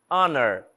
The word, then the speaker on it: honor: pronunciando o h our Honor Honor também não Estou pronunciando o h e Elas começam com